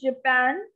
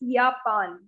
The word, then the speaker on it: Japan: rush next comes is japan so you know that for j the sound is of your sound so it's yapan not japan or japan it's yapan yapan and the language is